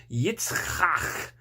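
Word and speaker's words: יצחק: It's kind of weird, but and the word Isaac is a Hebrew name. We've changed it a little bit so that it sounds more English, but the original is Yitzchak. That's how it's said.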